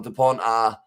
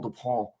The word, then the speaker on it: Dupont: Dupont, the T is silent as well, says Karma Peach.